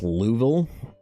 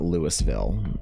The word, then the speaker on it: Louisville: You're not pronouncing the the S in it.